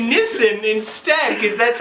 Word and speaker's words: Nissin: cut me off and they're like well it's pronounced nissin and this time remember to not say nisi but say nissen instead because that's how it was pronounced nissan